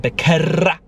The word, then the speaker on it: Becerra: Can you guys roll your R's like that? Becerra.